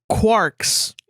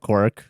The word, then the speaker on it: quark: deal with each other's quarks quarks quarks that's a couple that needs to stop I think a quark is like an actual scientific thing oh so they said Quark instead of quk yeah q u a